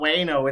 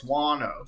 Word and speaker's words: Wano: wano together because guano because we always say it wrong and we've gotten like 13 comments that it's like it's not wayno it's wano so are y'all trying